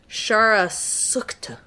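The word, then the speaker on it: Shahr-e Sukhteh: Shara Sukta.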